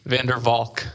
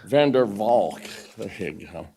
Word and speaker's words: Van der Valk: young man's name right I hate the mispronounce a Dutch man's name Vander Volk Van Der Valk but that's uh Mr